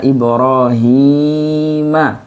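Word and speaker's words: إبراهيم: Maka di sini bacanya wa auhayna ila Ibrahim. Nggak boleh pakai himi.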